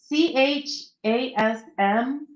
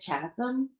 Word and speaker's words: chasm: The word chasm, right? It's CHASM. And I'd always pronounce it in my head chasm for some reason, but then I heard somebody actually pronounce it and it's chasm. But I think when a